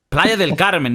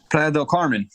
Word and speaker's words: Playa del Carmen: Spanish Playa Del Carmen if you don't know how to say that you're gonna get in the ass in Playa del Carmen Fredo Carmen yeah if you say it like that you're getting Ricky recording